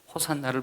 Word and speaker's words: 호산나: 호시아나, 이것이 맞는 발음인데 호시아나가 아람어 발음으로 호산나입니다. 그래서 그들이 호시아나라고 사실 불러야 맞는 일인데 호산나를 불렀습니다.